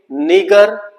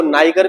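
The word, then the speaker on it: Niger: उसके बाद एन से हम पहुंचेंगे नीगर, जिसको नाइगर भी बोल देते हैं, नीजर भी बोल देते हैं, तो सबकी प्रोनाउंसिएशन अलग अलग होती है।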